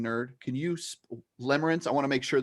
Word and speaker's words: limerence: nerd can you sp limerence i want to make sure that we're hearing this correctly how do we spell that well i can so it's l-i-m-e-r-e-n-c-e so it's limer it's like limerick but limits and we've got